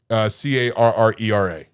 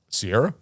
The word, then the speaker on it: Carrera: Carrera. It's a How do you say it? it's a model of a car. Yeah. Oh, Sierra?